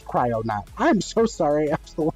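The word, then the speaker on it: Kryonaut: It's not Cryonaut. Is it? Is it Cryonaut? Or Chironaut? It's Oh, it is Cryonaut.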